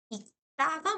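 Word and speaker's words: 읽다: 요거 발음 어떻해요? 익다가 맞는 발음이에요. 다가 그죠? 그러면 리을 기억 중에서 기억으로 발음났으니까 받침이 분명히 자음이 두 개인 거야.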